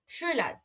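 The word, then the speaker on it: Schüler: যেমন শুইলার, শুইলার, দেখেন ইউ যেহেতু উমলাউট আছে উচ্চারণটা কিন্তু একটু উই মানে এরকম কিন্তু আসতেছে শুইলার, দেখছেন?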